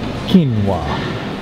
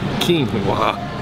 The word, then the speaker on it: quinoa: It sounds like, I feel like it's a character in Lion King. Pronounce it. Quinoa. Quinoa.